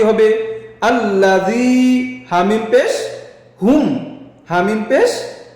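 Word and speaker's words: الذي: উচ্চারণ কি হবে? আল্লাযী।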